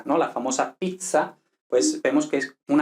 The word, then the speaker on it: pizza: mismo ypsilon lo mismo y luego la zeta que no se pronuncia como la zeta española en este derecho en italiano no existe el sonido z vale no existe el sonido z sino que se lee entonces pues por ejemplo pizza no la famosa pizza